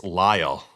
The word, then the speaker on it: Lyall: Oh, it's Lyall. Not it's Lyall rhyming with Kyle. Gotcha. Um, so it's Lyall, not Lil. I thought it was Lil.